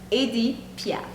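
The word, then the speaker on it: Édith Piaf: Edith Piaf.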